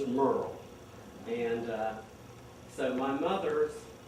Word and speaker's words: Muriel: mother Merl Taylor and she did pronounce it Merurl. She did it was spelled M U R I E F but she did not like you to call her Muriel. Her name was Merl.